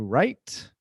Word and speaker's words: write: To write. So notice, write, o W é mudo.